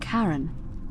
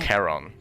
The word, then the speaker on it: Charon: Only your pronunciation is a little off. The name you heard wasn't Karen. It was C-H-A-R-O. So, what we thought was just a Karen meme is actually Charon, the ferryman of the dead.